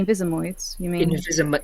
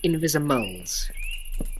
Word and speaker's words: Invisimals: The Invisimoids, you mean? Invisimals. Not Arkin and the Invisimoid. Like animals, but Invisimals. Oh, no.